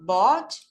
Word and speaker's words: bought: The past tense of buy is bought. You pronounce bought. Just B-O-T. Bought.